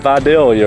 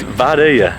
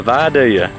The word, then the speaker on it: Vidalia: Yeah, so it was not Vidalia, right? Nope. Yeah. In fact, I've asked everybody, and no one knows how to say it right. Yeah, I try. It's Vidalia. It's with a Y.